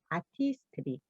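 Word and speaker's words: Artistry: y 뉴트리라이트 지난번에 y 아티스트리 아티스트들이 발음 어렵다고 하시는 분들 계셨는데 아트 이제 트라이라고 외우라고 하셨죠 아티스트리 자 그러면 뉴트리라이트는 그러면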